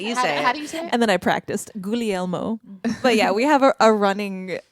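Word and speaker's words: Guglielmo: Gulmo.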